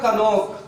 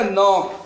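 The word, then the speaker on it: knock: अब इसको कनोक नहीं पढ़ना है, क्या पढ़ना है, नॉक।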